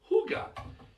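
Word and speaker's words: hygge: pronounced it's h y GE e looks like hiyi or higgy it's pronounced Huga and it's a way of life it's a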